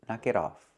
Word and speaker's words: knock it off: The T changes to a fast T. So you hear knock it, knock it, knock it off, knock it off.